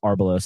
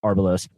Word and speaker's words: Arbelos: Okay, so I wanted to quickly ask you about Arbelos. I guess I mispronounced it originally, but Arbelos.